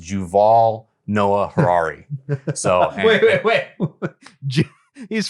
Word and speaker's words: Yuval Noah Harari: his name is uh according to Wikipedia it's pronounced juval Noah Harari so wait wait wait he's from Israel and